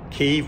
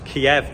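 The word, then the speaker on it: Kyiv: little bit crude but that is kiev but keeve we now call it because kiev is the russian pronunciation so if you notice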